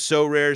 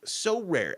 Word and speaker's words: Sorare: leaderboards win a variety of rewards, which includes So Rare scarcity cards, game tickets, merchandise, signed jerseys, and VIP experiences like meeting MLB stars.